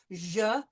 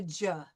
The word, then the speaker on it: je: And remember, this J is not hard. It's a je, not a ja.